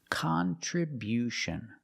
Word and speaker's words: contribution: Contribution. We see at the end with t io n. You hear the sound sh like she and she.